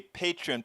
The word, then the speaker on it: Patreon: You can also support us via becoming a patron. Patron is spelled Patreon.